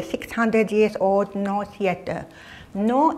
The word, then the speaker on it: Noh: No is spelled N-O-H.